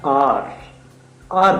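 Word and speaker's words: hour: तो उनके लिए बेसिकली हम हार बोलते हैं हावर बोलते हैं बच्चे उसको मिस प्रोनाउंस कर जाते हैं h यू आर होता है आर आर बोलते है बेसिकली तो अ जो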